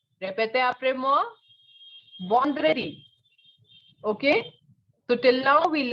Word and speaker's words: vendredi: Not Vendredi, no. Vendredi will be the pronunciation in English, but this is not English, right? This is French. And in French, we know that the sound of en is no. So we have Friday as Vendredi.